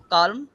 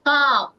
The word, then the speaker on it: Calm: কালম, কালম tranquil, না, এলটা উচ্চারণ হবে না, কাম। হ্যাঁ, Calm. এলটা কাম। সো এলটা Calm. মানে আছে ওখানে, কিন্তু ওটার টানটা থাকবে, এলটা উচ্চারণ করা যাবে না।